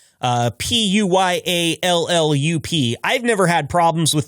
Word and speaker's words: Puyallup: Uh it's actually p wallop is how we pronounce that. That is a native American name. Uh Puyallup.